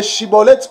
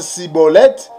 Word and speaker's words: Schibboleth: Si tu prononces le Chiboleth correctement, cela veut dire que tu appartiens dans le groupe des Galadites. Donc, si tu n'arrives pas à bien prononcer Chiboleth, tu prononces Siboleth, cela veut dire que tu es un étranger.